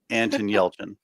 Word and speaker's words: Yelchin: And Desiree Bouters, is that how you pronounce it? She says Anton Yelchin.